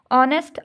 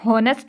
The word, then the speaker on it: honest: ऑनेस्ट आप कर लें, HONEST, ऑनेस्ट। अब देखिए इसमें हॉनेस्ट नहीं बोलते, हम ऑनेस्ट बोलते हैं, तो इसमें एच जो है वो साइलेंट लेटर हो गया, ठीक है।